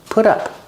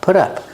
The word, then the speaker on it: put up: Remember, the T is between vowels, so it's pronounced like a fast D. Put up, put up.